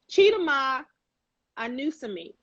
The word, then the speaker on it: Chidima Anusiem: Chidima Anusiem. Anusiem. And I did know that. I said that right the first time.